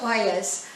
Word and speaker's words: olla: oil we have an oil making class that word spelled o-l-l-a is actually pronounced like the spanish people do that is an unglazed